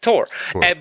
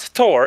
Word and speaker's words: Thor: Yeah, Tor. But she kept on saying, it's not Thor, it's Tor.